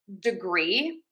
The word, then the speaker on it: degree: Okay, let's start off with degree, degree, degree. So we have a schwa here on syllable number 1. That is our unstressed syllable. And then we are going to stress syllable number 2, the degree, degree, degree, degree.